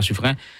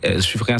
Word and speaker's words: Suffren: Dans les mondes musique qui est disponible sur chaîne YouTube Yokal Gadel Gadeo, c'est Suffren. Ça s'écrit Suffren, c'est Suffren.